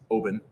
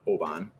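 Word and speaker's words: Oban: this is another one that uh is often mispronounced it's oben not obon uh which i did probably up until about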